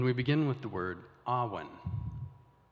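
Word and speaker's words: awen: welsh words and we begin with the word ahwan it's spelled a-w-e-n the next word that we're going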